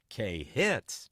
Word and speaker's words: KHTZ: They they had a card in the studio on how to say the call letters, and it was a step up. It was like it's KHTZ. K hits 97.